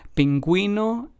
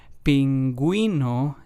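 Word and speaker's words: pingüino: again pinguino and bilingu so as we can hear the U with the two dots diasis accent mark in Spanish helps us give that gu or gu sound and pronunciation in words in pinguino it would be the GUI sound and then in bilingu it would be the GU sound the last of the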